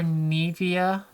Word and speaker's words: Nivea: Sometimes you say Nivea or Nivea. In Dutch it's Nivea.